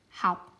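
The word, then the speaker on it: học: Remember the dot, make it heavier, make it lower in pitch. How.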